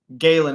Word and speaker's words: Galen: Also, sorry, my name is pronounced Galen. It's Irish. Oh, okay. So, I was calling you Gallen.